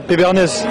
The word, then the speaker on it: Pébernès: Pas Péberne, Pébernès. Pébernès? C'est. C'est où l'accent? Sur le E, le dernier E, accent grave.